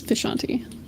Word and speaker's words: Vishanti: I pronounce it the way that they do in the Doctor Strange comics, which is where I took it from, is Vishanti.